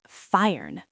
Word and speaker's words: feiern: The verb is feiern. Feiern. That means to celebrate or to party. So you can say, Wir feiern Karneval. Wir feiern Karneval.